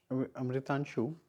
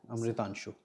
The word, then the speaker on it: Amritanshu: Amritanshu, I'm pronouncing your name right, no? Yes, sir. Amritanshu. Yes, sir.